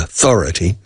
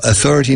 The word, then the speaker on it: authority: Entonces, la primera letra, la letra A aquí, se pronuncia como la A del artículo indeterminado.